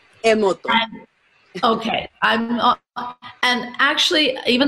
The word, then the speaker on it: Masaru Emoto: personal assistant to Dr., and I've got to pronounce it, Masaru Emoto. Emoto.